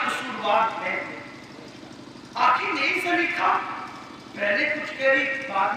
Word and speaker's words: زلیخا: تو زلیخا کہتی ہے، زلیخا بھی پڑھتے ہیں، لیکن اہل علم زیادہ تر اس کے تلفظ زلیخا کی طرف متوجہ ہے۔ تو زلیخا پہلی بار